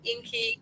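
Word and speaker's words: INCI: called inky decoder um so inky is and inky is the name right of the ingredient it is the universal name that the ingredient is listed as so it's called inky decoder it's spelled I ci decoder So there you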